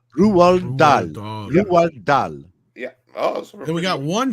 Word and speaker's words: Roald Dahl: He's very popular, the way that I say it, Roald Dahl. That is the proper pronunciation. That's why his name Roald Dahl. Say it again. Roald Dahl. Roald Dahl.